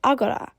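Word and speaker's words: ἀγορά: makes R sounds r try this one it's pronounced Agora and it means Marketplace this next letter is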